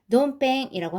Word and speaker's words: ドンペン: 요거는 뭐냐면은 돈키호테에서 돈 갖고 왔고 펭귄에서 펜 갖고 온 거예요. 그래서 발음이 돈펜이라고 합니다.